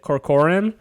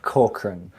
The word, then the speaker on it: Corcoran: guest and then correct correct me on the pronunciation of your last name is it Corcoran uh Corcoran Corcoran damn yeah that's way better I've heard some